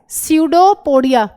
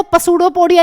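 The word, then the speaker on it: pseudopodia: यह इसकी गई सेल मेंब्रेन आगे और इस तरीके से यह बनाता है सडोपोडिया। कोई बच्चा इसको पसूडोपोडिया नहीं कहेगा। पी साइलेंट है।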